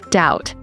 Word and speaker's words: doubt: For example, no, knee, thumb, doubt.